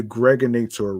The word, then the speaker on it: Gregonator: I'm your man, aka the Gregonator. Rhymes with now or later.